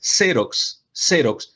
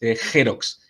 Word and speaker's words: Xerox: Y la otra es que la marca es Xerox, no es Xerox. Entonces no es cualquier X que yo puedo pronunciar como J.